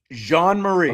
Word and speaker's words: Jean Marie: Jean Marie. Okay. All right. French basically like the the French pronunciation, which is what I would Jean and then it looks like Mary, but it is Marie.